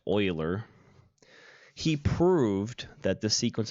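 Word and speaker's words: Euler: it's spelled EUL er it is pronounced oiler he proved that the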